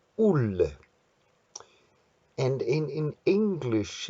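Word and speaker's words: Olle: In Swedish, they have O-L-L-E, and they pronounce it ull.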